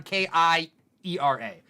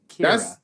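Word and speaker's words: Keira: I've been operating on K-I-E-R-A. Yeah, so Kira. That's why I would say Kiera. But now that I see it's K-E-I-R-A, you're right. It's Kira.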